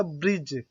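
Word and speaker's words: bridge: तो D silent होने के लिए यदि डी के बाद जी आता है, याद रखना क्या, फिर से, कि डी के बाद अगर जी आता है तब डी साइलेंट होता है। जैसे कि आपने अक्सर सुना होगा ब्रिज, है ना, बैज।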